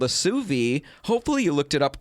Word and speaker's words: sous vide: We're talking about an appliance called a Sous Vide. Hopefully you looked it up over the break. It's spelled it's pronounced Sous Vide, which is what I've been saying.